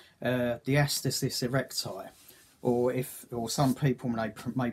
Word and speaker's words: diastasis recti: Anyway, I thought I might have had a hernia, but it turns out it's called diastasis recti. Or some people may pronounce it diastasis recti.